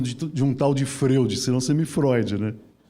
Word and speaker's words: Freud: Se escreve freud, mas a gente fala freud, né?